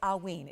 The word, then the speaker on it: hauyne: We've got some hauyne's coming up next.